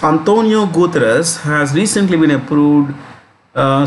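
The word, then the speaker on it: António Guterres: guterres has recently been that's a portuguese name so you pronounce this as antonio we normally say antonio deuterous it's antonio gutras has recently been approved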